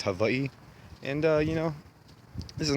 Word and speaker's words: Hawaii: You guys might know it as Hawaii. It's actually pronounced Hawaii.